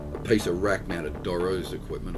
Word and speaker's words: Dorrough: piece of rack mounted doro's equipment or DeRose however you want I've always known as Doros okay that's how I've pronounced it but these are just